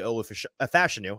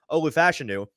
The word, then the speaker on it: Olu Fashanu: their second tackle is not actually ol fashanu I keep saying it wrong Olu fashanu it's tily fuaga it's